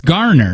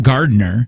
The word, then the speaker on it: Garner: It's Garner, not Gardner. It's not Gardner.